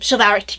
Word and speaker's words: chivalric: And it was a part of the chivalric, not the code itself, but the chivalric tradition that really came blasting across Europe because of France, where a lot of that chivalric tradition...